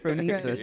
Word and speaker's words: Phronesis: She said, bro, just break it up. Fro. Afro. Me. Sis. There you go. Phronesis.